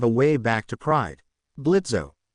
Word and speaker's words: Blitzo: Blitzo, the O is silent.